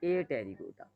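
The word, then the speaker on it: Apterygota: Wings होंगे तो आप उसको कहोगे टेरिगोटा, विंग्स नहीं होते तो आप उनको कहते हो ए टेरिगोटा, पी साइलेंट है, टेरिगोटा और ए टेरिगोटा।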